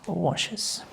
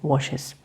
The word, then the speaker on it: washes: verbs for example watch becomes watches wash becomes washes kiss becomes cases fixed becomes fixes go becomes